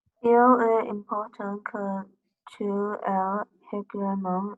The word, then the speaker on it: aille: Donc, que tu ailles. Remember the word garlic? Aille. You spell it the same. I mean, not that you spell it the same way, but you pronounce it the same way.